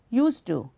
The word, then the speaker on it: used to: We are not saying used to, used to, used to. D is dropped. But when say used, d is audible, d sound is audible.